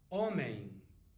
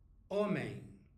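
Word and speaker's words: homem: hotel okay got it and a man is omain omain as we are here let's have a look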